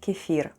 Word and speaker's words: кефир: Let's spell the word kefir. The first sound is K, then we have E, F, I, and R. And all together it's kefir, with a stress on the last syllable.